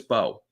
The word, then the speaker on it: Mbow: This entire draft, the whole season, the off seasonason, today we've been pronouncing Marcus and Bao's name wrong. It is Marcus Bo. The M is silent.